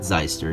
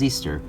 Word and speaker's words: Zeester: It was not Zeister, it was Zeester.